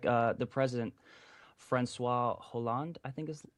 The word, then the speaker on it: Hollande: Like the president, Francois Hollande, I think is how you pronounce it. Hollande. Yeah, he said. Yeah, H is silent.